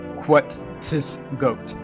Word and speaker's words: Quetzgoat: However, for simple stop-bys and visits, you're likely to only hear a few, such as Quetzgoat, pronunciation Quetzgoat, meaning suck up, lapdog.